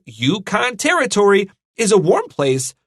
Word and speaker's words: Yukon: how to say this this U is like y you YouTube Yukon and then O is a short o Yukon is a local